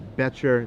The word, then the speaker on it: Boettcher: to apologize to Jared I've been mispronouncing his name the whole time it's beter the O silent okay great that's a